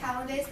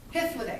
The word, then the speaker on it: Hythloday: and double checking, but I want to say Hallidays, but that sounds like a sauce, so hold on. Hold on. Hythloday, excuse me. I was in Hallidays. I knew that was wrong. Hythloday.